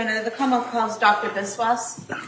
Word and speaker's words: Biswas: Yes, my name is Biswas. My first name is spelled J H I L A M.